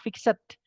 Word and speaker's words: fixed: belum itu sebenarnya tulisannya fixed bukan fix aja teman-teman memang bacanya enggak fixed gitu ya Tapi fix nah tapi itu tulisannya fixed seperti itu kemudian published yang telah